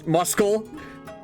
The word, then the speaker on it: muscle: English is weird you don't pronounce the C in muscle muscle but you do a